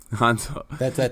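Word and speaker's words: Hanzu: Hanzo. That's how they say it in Chinese.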